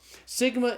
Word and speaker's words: sigma: Sigma is the S sound in Greek. So sigma is pronounced like the S in the English word study.